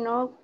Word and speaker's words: know: Can know what? What that means? La K antes de la N nunca se pronuncia en inglés.